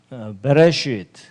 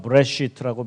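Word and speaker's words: בְּרֵאשִׁית: 자, 베레시트. 예, 이거 묵은 발음은 브레시트라고 발음하기도 하는데 어쨌든 베레시트 바라 엘로힘 엣 하샤마임 베트.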